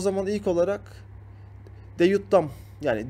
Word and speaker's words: DJ Dam: O zaman ilk olarak Deyut Dam yani DJ Dam ama harf olarak okunduğu için Deyut Dam diye okunuyor.